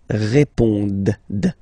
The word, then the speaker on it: répondent: Ils répondent. So same thing here, classic ending, ENT, but then you don't pronounce it. Okay? Répondent.